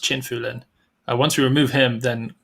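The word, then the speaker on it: Qin Fulin: But of course, once we remove China's Qin Fu Lin, which I believe is actually pronounced Chin Fu Lin, once we remove him, then suddenly Kim Tuan Thatch moves up into fourth.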